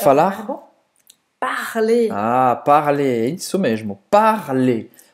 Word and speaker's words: parler: E você não vai pronunciar esse R no final, certo? Parler. ER, nesse contexto, é E.